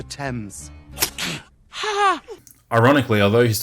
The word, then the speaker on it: Thames: see that doesn't rhyme you can't just say tames because it rhymes with painters it's the River Thames ha ha ironically although